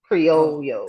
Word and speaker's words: Criollo: Criollo. CRILLO. So the L would be Y, like ella. Right, So Criollo. Creole. Maybe Creole. CRIOLLO. Let's ask. Let's ask them. CRIOLLO. Oh, Criollo.